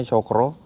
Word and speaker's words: Cakra: Ee mungkin teman-teman ada yang pernah tahu tentang atau ya Hotel Cakra tulisannya tapi bacanya Cokro.